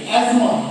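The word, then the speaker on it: asthma: যেমন দেখবেন এজমা। এজমা যদি বানান করো এস টি এইচ এন আমরা কি এসথামা বলি? যারা বলি তাহলে ভুল প্রোনাউন্স করি। একচুয়াল প্রোনাউন্সিয়েশন কিন্তু এসথামা না। ওর প্রোনাউন্সিয়েশন হচ্ছে এজমা। ঠিক আছে?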